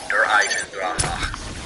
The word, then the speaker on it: Der Eisendrache: Coming in at number 3, we have Der Eisendrache. You have to pronounce it like that, otherwise there will be angry German people in your comments.